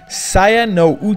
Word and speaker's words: Saya no Uta: visual novel for me sian no you talk like Pope that's how you pronounce it is a title released